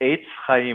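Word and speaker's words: Etz Chayim: This is, and by the way, Rabbi, how do I pronounce it? Is it Congregation Etz? Is it Chayim or Chayim? How do you pronounce it? The first time around was correct. Eitz Chayim, which actually means a tree of life.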